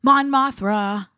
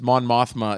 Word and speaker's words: Mon Mothma: Mon Mothra. who's Mon Mon? Mothra. Did I say it wrong? Yeah, if you saw the trailers, Mon Mothma is definitely in there.